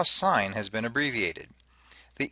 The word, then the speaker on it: sine: It is still sine. If you say you need to take the sin of 72 degrees, your teachers and or peers will simply cringe. It's sine. Always sine.